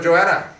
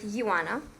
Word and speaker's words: Ioana: But anyway, so Joanna, Yes, Ioana. sir. Joanna, is it pronounced Joanna or Joanna? How do they pronounce your name here? You pronounce it Ioana.